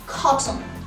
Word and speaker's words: cotton: احنا بنكسر القاعدة لما يبقى عندي في T شوا N cluster التلاتة مع بعض. فبدل ما بقول cotton انا بطلع بلساني علشان اقول حرف ال T اللي بقلبه همزة cotton cotton cotton cotton ball cotton.